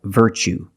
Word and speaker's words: virtue: You see T-U-E as the second syllable. So the T is pronounced ch, like chicken. So what's the pronunciation? That's right, virtue.